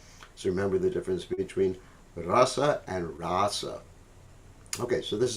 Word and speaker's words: rasa: words rasa and russell the word rasa see how this word here is rasa because it has a long a i've outlined it that